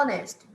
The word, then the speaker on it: honest: Na outra coluna, olha como fala honesto. Honest. O H é mudo. Então, em uma palavra ele pode ter som de R e na outra ele não tem som nenhum.